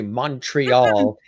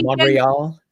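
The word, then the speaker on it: Montréal: way you don't say they don't say the t you don't say montreal you say monreal yeah the story is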